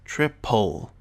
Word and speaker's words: triple: And if this is the case, it's pronounced like there is a short U between the consonant and the L. So we have three examples here.